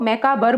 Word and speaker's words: macabre: Pronounce में वैसे ही BER लग रहा हो, मैकाबर बोलेंगे, लेकिन BRE है, यही अंतर जानना है आपको।